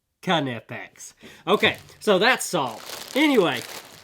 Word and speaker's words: Knipex: to somebody that just doesn't know how to pronounce canipex it's nip x and everybody knows it's nip x no they don't it's pronounced cun fx okay so that's salt anyway just kind of